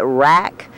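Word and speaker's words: wrack: big sheets like this we call it rack we spell that w a CK and this starts breaking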